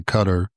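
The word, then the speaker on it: Qatar: And I'll probably just stay with the anglicized version and say cutter instead of trying to say the Arabic Arabic version.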